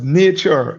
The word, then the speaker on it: Naycha: And the name was Nature, like, as you had to spell it, Oh yeah. Nature. But I came to Antigua, and then Antiguans don't call me Nature. they say nature, Okay. with the dialect.